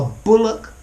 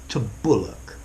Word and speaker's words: bulwark: next one is book notice this word has a W but the W is silent a Bullock - Bullock yeah I think I've